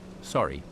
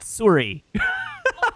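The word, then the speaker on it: Surrey: Sorry, British Columbia. That is not Suri. Ask someone. Yeah, that is sorry. British Columbia.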